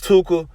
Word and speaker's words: Tooka: It actually rhymes with hookah, which is a smoking device. You see what I'm saying? So I think that a lot of people who diss Tooka, they may diss Tooka,